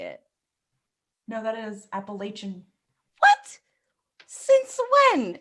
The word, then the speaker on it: Appalachian: not how you say it no that is appalachian what since when it's the appalachian trail i